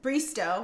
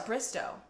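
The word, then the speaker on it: Bristowe: And then in other Bachelor news, Caitlin Bristow, right? Oh, I said it right. I thought it was Bristow.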